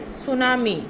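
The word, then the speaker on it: tsunami: Second word, next word is सुनामी. टी is silent. सुनामी, जो समुंदरी तूफान आता है.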